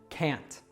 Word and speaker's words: can't: Can't doesn't have a weak form as it is always stressed, so be sure to always pronounce it with a strong a, can't.